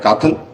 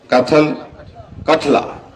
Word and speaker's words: कठला: से क्या नाम है, काथल, क्या नाम ये कौन सा स्कूल है? अच्छा नहीं स्कूल का नाम कठला। अच्छा जो स्पेलिंग गलती लिखी ना, इसको ठीक करना चाहिए।